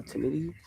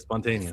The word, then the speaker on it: spontaneity: No, it's not spontaneous. It is uh uh spontaneity.